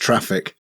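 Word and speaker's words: Traefik: I do so he suggested the traic it's pronounced traffic is it pronounced traffic all right reverse proxy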